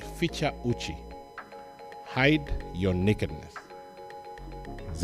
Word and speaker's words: Ficha: are not necessarily Kenyans feature is spelled in the way that it sounds fi c-h-a Uchi is Uchi hashtag